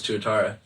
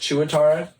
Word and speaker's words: tuatara: They're just classified as Tuatara.